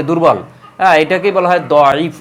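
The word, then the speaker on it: ضعيف: হ্যাঁ, এটাকেই বলা হয় দয়ীফ, অর্থাৎ যেহেতু দোয়াত দিয়ে উচ্চারণ দয়ীফ, কেউ এটাকে দয়ীফ বলেন, কেউ জয়ীফ বলেন, অর্থাৎ দ এর উচ্চারণ যারা জ করেন তারা এটাকে বলেন জয়ীফ।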